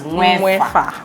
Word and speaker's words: Nwaefa: Nwaefa, is that how you pronounce it? Yes, Nwaefa.